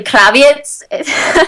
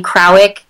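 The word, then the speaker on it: Krawiec: The correct way to say it is actually Kraviec.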